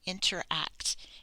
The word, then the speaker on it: interact: So we have in, ter, and that one's R controlled, and act, interact, interact. Be careful not to lose the C, interact.